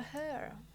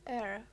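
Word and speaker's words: heir: Martok is without a hair. Not hair, air. Air? That's the right pronunciation, right?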